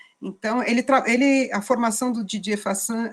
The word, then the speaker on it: Fassin: Fassin, ele é francês, se escreve Fassin, Fassin, né, se fala Fassin, e ele justamente, inclusive